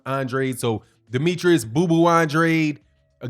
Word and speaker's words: Andrade: Demetrius Andrade or Andrade I always learned to pronounce that name is on dry d but I think he pronounces his I'm Andre so Demetrius bubu Andrade